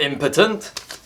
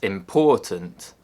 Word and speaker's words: important: I'm not impotent! Of course, what I actually meant to say was important. Very important person. However, if you accidentally put the stress on the first syllable, you say impotent, which is a condition